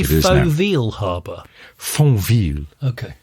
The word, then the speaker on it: Fontvieille: And while wandering around Fontvieille Harbor Is it pronounced that? Did he Did you say Fontvieille Harbor? Fontvieille.